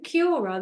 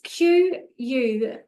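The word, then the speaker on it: Quorn: Do you remember Cura, the orange juice used to get? Cura. Well, it's Quorr.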